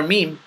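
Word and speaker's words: م: m m you know you push the M sound out of your nose similar or identical to the letter M there's not much else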